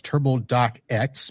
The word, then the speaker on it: TurboDocx: Uh today's vendor that we are seeing is TurboDoc, but you should think of it as Turbo Dox because that's how it's spelled.